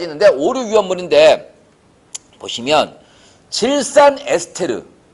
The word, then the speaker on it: 에스테르: 1류에서 6류까지 있는데 5류 위험물인데 보시면 질산 에스테르. 이거 이제 요새 이제 그 에스터라 그러는데 맨날식 발음은 에스테르입니다.